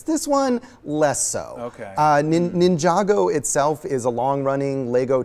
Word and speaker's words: Ninjago: Ninjago.